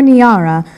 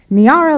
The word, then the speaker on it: Niara: any area near and sometimes drip slowly and uncertainly out of mouths like Niagara as if I've misspelled my own name without a G when I tell them